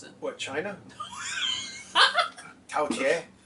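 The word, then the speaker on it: 饕餮: Can you pronounce it? What, China? Tao Tie? Tao Tie!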